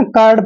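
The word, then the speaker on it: curd: मतलब दही ठीक है ना कर्ड पढ़ना है कर्ड कुड नहीं पढ़ना है कर्ड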